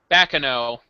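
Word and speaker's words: Baccano: But is it pronounced Bacano or Bacano? Bakano.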